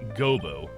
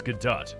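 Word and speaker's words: Godot: then uh prosecutor gobo it's not gobo it's gadot your honor in any case please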